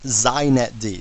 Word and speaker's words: xinetd: me just say a couple things first it's pronounced zet D so if you want to be hip you